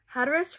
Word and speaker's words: Hatteras: an island called Hatteras hatus rhymes with mattress Holly would tell her